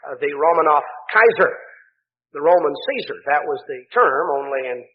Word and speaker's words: Caesar: We pronounce it Caesar. Actually, the Latin pronunciation was more like Kaiser. That would have been more the way that the ancient Romans pronounced it.